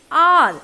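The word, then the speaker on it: hour: आर, अगर आप spelling देखोगे एच.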